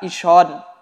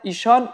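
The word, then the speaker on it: ایشان: আমরা শুধু নামটা জেনে নিচ্ছি, যে জামিরগুলো আমরা আগেই শিখেছি, মান, ম, চৌ, সম, উ, অনহ বা ঈশন। এইটাকে 2 ভাবে উচ্চারণ করা হয়, ঈশন, ঈশুন।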